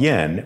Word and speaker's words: JPY: left next is jpy yen with jpy trust score thank you for giving us your valuable time my name is from jpy inc it is written as jpy and pronounced as yen as you may have